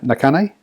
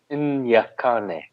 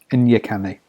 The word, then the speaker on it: Nyakane: And Nakane, Nyakane. Nyakane. There we go.